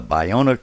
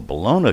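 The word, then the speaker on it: Ballona: Angeles River flowed down, either depending on your preference in terms of pronunciation, the Bayona Creek or the Bologna Creek, and did so for a couple of years.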